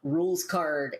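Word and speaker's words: Rouxls Kaard: and I should explain this name is spelled r o u x LS k a a r d so it does not look like it sounds but that's because it's like French as as we'll find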